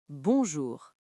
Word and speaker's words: bonjour: Répétez après nous, bien clairement, « bonjour ». Encore une fois, en insistant bien sur le son « on ».